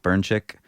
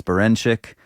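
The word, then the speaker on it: Berinchyk: Emanuel navarete versus denck burnic did I say his name right no baren bin Emanuel navarete versus Dennis berenik uh what do you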